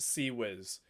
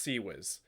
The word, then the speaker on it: CIWS: didn't get the same memo it is properly pronounced see Wiz heavy cloud pronouncing its CIWS in naval fleet